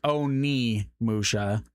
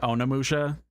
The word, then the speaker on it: Onimusha: It's Onimusha. O N I and then M U S H A. I I think it's just the way I'm pronouncing it, Onimusha.